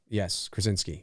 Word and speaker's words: Krasinski: Is that how you pronounce his last name? Yes, Krasinski.